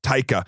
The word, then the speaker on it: Taika: And I' I've really liked um how do you how do you pronounce his first name? I'm Taika. I really like Taiger ever since uh I think the first thing I saw was what we do in the shadows.